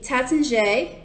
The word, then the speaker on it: Taittinger: So in case you were wondering, I am currently drinking the Taittinger Brut. This is based out of France. And that is actually how you say it.